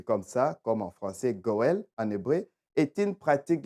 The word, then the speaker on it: goël: Par introduction, j'ai dit, les droits des rachats ou les Goël, peut-être que je les prononce mal, G-O-E comme dans Noël et L en hébreu, Goël.